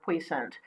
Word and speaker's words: puissant: song which is or puissant it which is one of the standard pronunciations but I found out there are multiple standard pronunciations for this word it came from French so go figure how do you pronounce